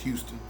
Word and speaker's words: Huston: It's spelled like Huston, but it's pronounced Houston.